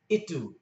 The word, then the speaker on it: itu: U is pronounced U, U. And an example of this would be itu, itu, which means that.